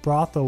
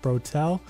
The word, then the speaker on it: brothel: One of my friends who has terrible pronunciation thought brothel was pronounced brotel.